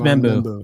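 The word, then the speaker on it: Membou: That's Membu.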